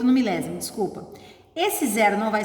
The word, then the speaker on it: milésimo: Lembrando que a palavra décimo se escreve com C, centésimo e milésimo é com S, que faz o som de Z, né? Mas é S.